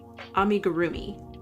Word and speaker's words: amigurumi: I think that works well because if I say it like with the Japanese pronunciation amii the the R almost sounds like a D. Um amigurumi like it doesn't it doesn't sound right and I don't want folks thinking that they're saying it wrong um because of how I'm saying it. Um, and my pronunciation isn't even the best. So, I want to be sure I say it like amigurroomi.